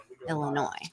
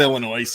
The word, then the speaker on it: Illinois: in the Wilds of Illinois no it's not Illinois it's Illinois silent yes and what may